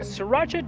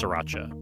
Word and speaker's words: Sriracha: and a 9 oz Sriracha hi I just want you to know that your Spira youra or Spira how pronounced you omit the r you just say three very distinct syllables there's a little break